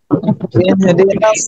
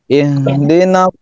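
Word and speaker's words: اهدنا: Ih hanya dari pangkal tenggorokan. Kemudian dia memiliki sifat hamas dan rekhwah. Jadi suaranya mengalir, pasti mengalir. Ih, ih. Jangan dimentokin dibacanya, jangan begini. Dina, jangan, tapi dialirkan baik nafasnya maupun suaranya.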